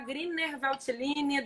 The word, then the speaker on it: Grüner Veltliner: E a predominância é essa uva aqui maravilhosa, que se escreve Gruner Veltliner, mas se fala Grüner Veltliner. Só que esse alemão meu é péssimo. E como tem o trema em cima do U, geralmente tem um som de UI.